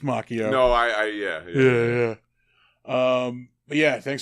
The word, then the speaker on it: Macchio: You're like Jordan Schlansky, pronouncing it Macchio. It is pronounced Macchio.